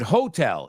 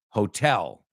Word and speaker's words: hotel: The other one, you said hotel. It's hotel. Hotel.